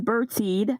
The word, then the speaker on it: Bertide: and blt that's right hi everyone this is bertied and i'ma pronounce my name like we do from the